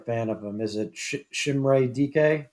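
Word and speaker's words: Chimere Dike: Is it Shimray DK? Chimere DK?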